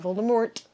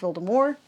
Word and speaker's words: Voldemort: Not Voldemort, even though that's how it's spelled. It's pronounced Voldemort.